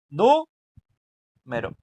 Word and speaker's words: número: Entonces, si pronunciamos nu con más fuerza, nos va a quedar nu y lo demás lo decimos suave, ¿no? Nu mero. Nu mero. Entonces, nu es la que le ponemos la fuerza y lo demás lo decimos suave.